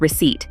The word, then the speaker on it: receipt: Another one is receipt, where the P can easily be dropped.